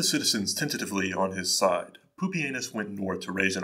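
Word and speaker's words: Pupienus: would select two co-emperors pupianus and yes that's actually how you pronounce his name and balbus their election sparked civil unrest however as poopy anus was not well remembered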